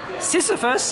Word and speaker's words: Sisyphus: And this is a Sisyphus, how do you pronounce it? Sisyphus, and it's done by Bruce Shapiro.